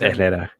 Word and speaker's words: Herrera: r's or so uh no you don't pronounce the h you just go yeah in spanish you don't pronounce the h so it's ether what's the point of